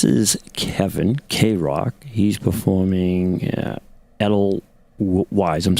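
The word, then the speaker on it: Edelweiss: Pronounce the W as a V. Adel vice.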